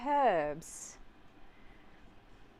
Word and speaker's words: herbs: You pronounce the H? That is from an Eddie Izzard stand-up. You say herbs and we say herbs. Because there's an H in it.